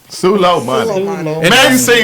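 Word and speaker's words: Soleimani: topics, is pronounced Sulomani. Sulo money.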